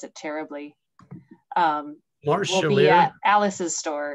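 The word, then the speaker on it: Marj Charlier: I'm going to mispronounce it terribly. Marge Chalier.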